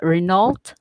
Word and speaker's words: Renault: yeah, It's called Renault. Renault, yeah, or Yeah, Renault. yeah, So they Renault. say Yeah, it's Renault.